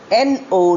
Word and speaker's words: know: Here is the first set of homophones, N-O, no, and K-N-O-W, also no. Pronunciation is exactly the same, no, but spelling is different, meaning is different.